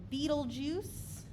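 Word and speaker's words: Betelgeuse: we see this is something called Beetle Juice and it's spelled a little bit differently it's b e t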